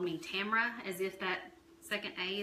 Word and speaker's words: Tamra: I'm one to talk my name is Tamra and it's pertinent it's spelled T am a RA so let's people say Tamara with my parents have always called me Tamra as if that second